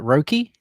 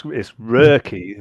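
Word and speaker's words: Röki: Is it Roki? So you have to say it like you're from Hull. So it's Rurky. The O with the umlaut is like an sound.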